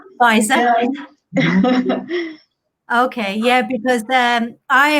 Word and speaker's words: Pfizer: In March, yes, with that new vaccine from, how do you pronounce it? Pfizer? Pfizer.